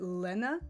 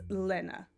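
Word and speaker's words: laine: It is French for wool.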